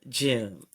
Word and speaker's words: Jun: Her name is June. That's right. I said June.